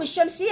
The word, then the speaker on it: الشمس: هذا حروف شمسيه، نخلي شده عالشين بحيث اللام ما لفظت، صارت حر الشمس، الشمس شديد.